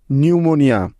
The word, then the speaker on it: pneumonia: এবার দেখো এন এর আগে পি লেটারের সাইলেন্ট হওয়ার কিছু উদাহরণ, যেমন নিউমোনিয়া, PNEUMONIA, নিউমোনিয়া।